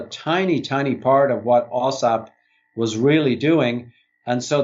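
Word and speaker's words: AAWSAP: Back to the work you were doing with the, would I pronounce it AWSAAP? Yes, AWSAAP.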